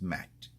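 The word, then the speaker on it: מת: And a Mem and Tau is pronounced Mat.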